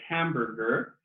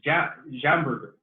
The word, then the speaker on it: hamburger: If the student pronounces jamburger, or for me personally, when students say school, it should say school, not school. These kinds of pronunciation problems are because of transference. This is caused by transference.